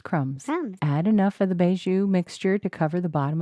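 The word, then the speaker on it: mbeju: It's called beiju. Doubt it. No, seriously, I think it really is because they actually have the pronunciation on the website, even Sure.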